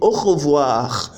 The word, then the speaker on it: au revoir: But if you notice in au revoir, I pronounced the last R.